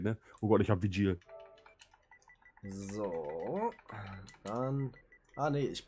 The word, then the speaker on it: Vigil: Also wie gesagt, ne, die Operators sind Blitz, Montane, Mira und Vigil. Vigil wird da ausgesprochen. Vigil. Vigil wird da ausgesprochen. Da ist V-I-G-I-L.